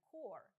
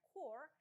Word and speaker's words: corps: Зверніть увагу на написання та вимову слова corps. Не путайте його з corpse – мертве тіло, corpus – корпус, збірка або core – ядро, серцевина. Множина від core – corps – пишеться так само, але вимовляється із закінченням corps.